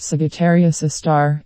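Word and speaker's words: Sagittarius A*: The telescope array also monitored a dim source of radio noise called Sagittarius A, pronounced Sagittarius A star, at the heart of our Milky Way galaxy.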